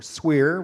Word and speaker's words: SWIR: hardware technology called a shortwave infrared SWIR or Squier which we like to say rhymes with beer so this is a